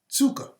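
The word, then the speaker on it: ψυχή: g5590 uh looks like the word psyche it's pronounced tsuka it means breath of life the mind of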